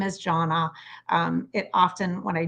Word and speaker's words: Jona: how to say her name my name is Jonna um it often when I join calls it gets mispronounced and I'm going to use that as